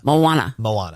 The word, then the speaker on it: Moana: Moana.